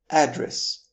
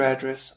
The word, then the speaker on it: address: For example, share your address on WhatsApp. However, if you shift the stress to the second syllable of the word, making it address, you will be saying